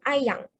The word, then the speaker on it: ayam: So for example, such as the word ayam. So that is the standard Malay dialect pronunciation, right? So ayam means chicken. But when it comes to the Terengganu dialect, the urban dialect speakers, they pronounce it as ayang. Okay, so it ends with an ng.